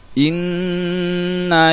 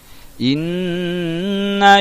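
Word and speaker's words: إنّ: Inna syani'aka huwal abtar. Jadi di situ ada huruf nun lagi bertasydid, ya. Jadi cara bacanya ditekan, ya, ditekan dan dibaca berdengung selama 2 ketukan huruf nunnya, ya.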